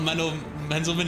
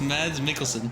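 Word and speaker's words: Mads Mikkelsen: It's not Mandle Menelman, it's Mads Mikkelson.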